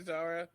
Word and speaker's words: Zahra: applebee's uh so what's going on with you zara uh where can people find you uh you all can find me on the socials at uh really zara zara is called z-a-h-r-a it's spelled phonetically because my dad was like all